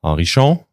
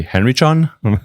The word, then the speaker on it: Henrichon: Uh, and um, I'm Arishon. Say it properly. The English people might say Henry Chan, but that's yeah, that's actually what I just did.